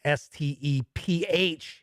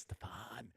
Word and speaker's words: Stephen: mispronounced his name because it's s-t-e-p-h-e-n which has always been stephen in my book i don't know i guess a lot of people say it's stefan clint gibson is here